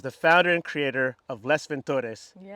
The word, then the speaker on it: Les Ventures: builder, and is the founder and creator of Les Ventores. Did I pronounce that right? I say Le Ventures. Le Ventures.